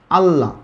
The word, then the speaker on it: আল্লাহ: যেমন যখন বলছি আল্লাহ থেকে আল্লাহ, এই শব্দটার ক্ষেত্রে দেখেন আল্লাহ শেষে কিন্তু আসলে একটা হ আছে, বাট আমরা উচ্চারণ করতে গেলে অনেক সময় আমরা হটা উচ্চারণ করি না।